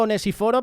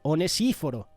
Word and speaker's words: Onesíforo: de lunes y foro que yo digo ones y foro pero a lo mejor es ones y foro sabes porque tiene el acento en la iv pero bueno estamos en